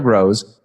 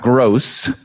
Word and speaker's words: Grosz: thank you to Sarah Grows spelled gr o s Z pronounced grows not gross because she's certainly not